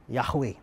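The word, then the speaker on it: Yahweh: empat huruf yaitu yhwh yang biasa kita membacanya dengan sebutan yahwe tapi saudara sebenarnya begini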